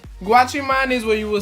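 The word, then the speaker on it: guachimán: So, our next word is GWACHIMAN. Now, GWACHIMAN means security guard. Yes, it sounds like watch your man, but it's not. Trust me, it's not. GWACHIMAN is where you will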